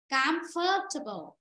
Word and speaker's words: comfortable: Comfortable.